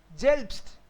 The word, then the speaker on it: selbst: जेल्ब्स्ट. एस टी तो स्ट होगा ना. आपको एक रूल बताया था, एस टी विल बी स्ट, एस पी विल बी स्प. सो जेल्ब्स्ट. जेल्ब्स्ट.